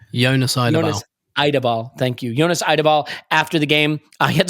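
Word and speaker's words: Jonas Eidevall: You had the chance to interview, please help me with the pronunciation. Jonas Eideball, thank you. Jonas Eideball, after the game.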